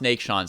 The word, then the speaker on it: Neiksans: track of all right i think it should be pronounced nate shawn's i think you're right